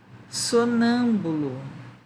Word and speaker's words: sonâmbulo: Sonâmbulo. Qual é a sílaba tônica mesmo?